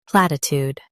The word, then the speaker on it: platitude: In U.S., stress plat. In UK, stress plat and soften platitude, platitude.